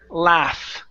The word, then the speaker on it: laugh: go to the word laugh okay so instead of saying La laugh okay wi in the mouth drop the tongue drop the jaw La laugh laugh laugh okay so he is funny